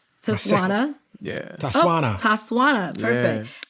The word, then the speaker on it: Tswana: And correct my pronunciation. Tswana. Yeah. Tswana.